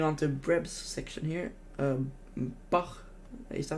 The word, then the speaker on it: Bach: Bach, is that how you pronounce it? Bach is great. Bach, yeah, Bach.